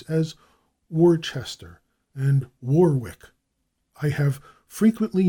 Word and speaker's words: Worcester: White in 1880 recorded the increasing habit of giving full value to the syllables of such borrowed English names as Worcester and Warwick. I have frequently noted the same thing. In Worcester County, Maryland, the name is usually pronounced Worcester,